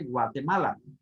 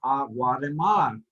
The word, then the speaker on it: Guatemala: The word, the letter T is hard to pronounce and is pronounced differently from English speaking people, okay, or English spoken people, and Spanish, okay? For example, we say Guatemala, okay?